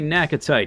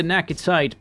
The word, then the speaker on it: Naquitite: I like to say Naquitite because it rhymes with appetite.